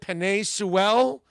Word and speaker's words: Penei Sewell: You bet your life Penei is going to go, what is it, Penei Sewell, I think is how it's pronounced.